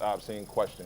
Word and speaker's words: AHBSEENKWESTION: On Instagram, you can find me at AHBSEENKWESTION, pronounced Obscene Question, which is the name of my rap group from long back.